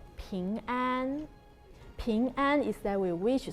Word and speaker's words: 平安: 苹果 is the same pronunciation as 平安.